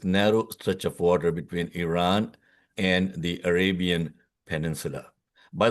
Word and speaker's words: Iran: stretch of water between Iran and the Arabian Peninsula. By the way, it is pronounced as Iran, not Iran. Okay? It's like with an E. Don't even though it's written with an I.